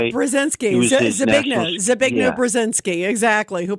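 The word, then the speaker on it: Brzezinski: Like for instance, Carter, he had uh Ze Brazinski. I'm not pronouncing it right. Brzinski.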